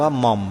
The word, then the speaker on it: หม่อม: ว่า หม่อม ่ะ นะ หอ หีบ ม้า ไม่ เอก ออ อ่าง ม้า อ่าน ว่า หม่อม นั่น แหละ หม่อม ตัว